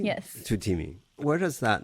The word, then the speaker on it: TUTEEMI: TUTEEMI, am I pronouncing it correctly? Yes. TUTEEMI.